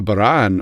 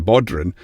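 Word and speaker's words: bodhrán: And then we have what we call as a baran, or as the Americans say, a bodhran, which it just makes me, every time people say, no, it's a baran, it's a baran. It's a Gaelic word.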